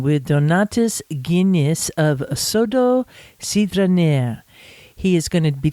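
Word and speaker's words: Sidrinė: Sidriné. Sidriné.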